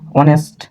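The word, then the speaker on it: honest: worker এই জায়গার মধ্যেও অনেস্ট তার মানে এইচ এটা উচ্চারণ হবে না ওই টা কি ভাওয়েল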